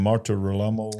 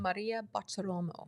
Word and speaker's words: Maria Bartiromo: Kash Patel and Dan Bongino were together interviewed by, what's her name, Marta Rolamo? How do you say her name? Maria Bartiromo.